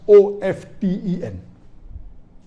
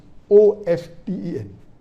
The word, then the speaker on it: often: Some will say often, some will say often. Previously it was often, then it became often. Now new people are saying no, often is correct. T is not silent, it should be pronounced. Some say T is silent, and then there's a big debate for that. But we realize that both are correct in their own ways. Similarly, these schools of thought,